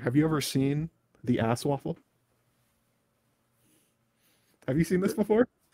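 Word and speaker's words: ASOIAF: so this is the objectively correct way to pronounce uh a song of ice and fire the acronym a s a-s-o-i-a-f ass waffle there you go uh i have a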